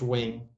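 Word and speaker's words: Nguyen: oh my god yeah there's this guy uh named wing and spelled n-g-y-n-g or some he or n-g-u-i-e-n uh pronounced wing he was vietnamese oh that makes sense and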